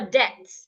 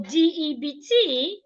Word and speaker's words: debt: you are a debt the b in this word is silent so D EBT and d e a t h they aren't pronounced the same way when you're talking about owing someone when you owe someone you say debt the be is silent